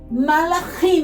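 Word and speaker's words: מלאכים: É 3 sílabas, ó. Mal, a, rima. Malachim. Aí a gente fala rápido, malachim.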